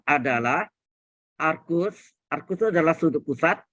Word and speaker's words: arcus: Siklometri itu yang arcus, ARC ya tulisannya. Bacanya arcus.